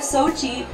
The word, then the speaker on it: Sochi: And the theme today is actually we're bringing a little bit of Sochi.